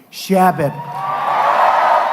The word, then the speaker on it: Chabot: Congressman Steve Chabot. Great guy. Come up, Steve. Come up, Steve. You pronounced it right.